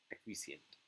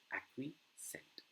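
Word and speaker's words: acquiescent: answer the right answer would be acquisent okay yeah that is the right pronunciation acquisent Let's move.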